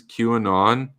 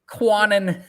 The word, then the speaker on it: QAnon: You know how he pronounces QAnon? How does he do it? It's embarrassingly bad. Like I'm vicariously Quanon. embarrassed. Quanon.